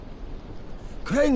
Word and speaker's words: Crane: name is crane okay crane rhymes with train and brain and sane and gray and rain and plane and the other kind of plane and and can I